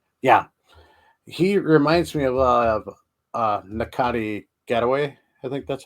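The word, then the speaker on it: Ncuti Gatwa: Yeah, he reminds me of Nakati Getaway. I think that's how you pronounce his name. It's on Sex Education, the new Doctor Who. Oh, Nashudi Gatwa?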